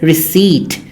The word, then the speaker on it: receipt: salmon almond chalk cough silent p is is to be found in words like receipt it is not received it is receipt receipt pseudo psychology coup not